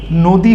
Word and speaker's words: নদী: এখানে খেয়াল করবেন, যেমন নদী, এখানে আদিতে নয়ের সাথে অ আছে এবং তারপরে দয়ের সাথে দীর্ঘ ই কার আছে, যার ফলে এই আদ্য অ এর উচ্চারণ ওকার হয়ে নদী হয়েছে।